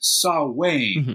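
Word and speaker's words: Samhain: the witches come out well Ireland has they pronounce it sa way although it's written s a m a i n in English we'd say sine but it is okay the celebration of the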